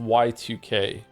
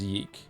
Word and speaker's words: YIIK: Is it pronounced yik or yike? It's actually pronounced Y2K, but everyone just says yeek.